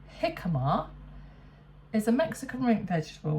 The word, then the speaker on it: jicama: 1/4 of a jicama, which Angela tells us is actually pronounced jicama, is a Mexican root vegetable with a brown